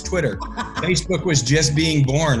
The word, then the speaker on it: Twitter: pronouncing that you know they're saying tweeter I need to learn about tweeter know it's Twitter Facebook was just being